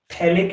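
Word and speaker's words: phthalic: थैलिक acid. PH silent रहता है इसमें।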